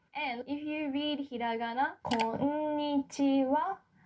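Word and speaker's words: こんにちは: And if you read hiragana, konnichiwa, this wa is spelled with hiragana ha, right?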